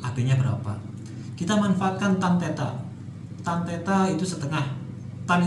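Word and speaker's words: θ: Nah, ini theta bacanya ya.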